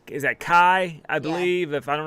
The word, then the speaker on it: Kai: Yeah, he's saying, is that Kai? I believe. If I don't know if I'm pronouncing that right. Yes. Kai.